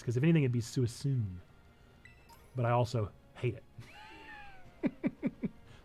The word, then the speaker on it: Suicune: I always said Suicune, but in some of my Pokemon adventuring days, I've heard people say Suicine, and that doesn't even make sense because if anything, it'd be Suicune.